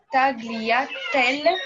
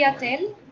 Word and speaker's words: tagliatelle: Le mot tagliatelle, par exemple, s'écrit depuis Tagliatelle. Le G ne bouge tagliatelle. pas. On ne lit pas le G, on ne dit Non, pas non, le on G.